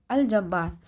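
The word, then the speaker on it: الجبار: वो लाम साइलेंट नहीं रहती। जैसे अल जबब्बार है ना ये पढ़ने में आ रही है ना ये वाली लाम? अलजबार।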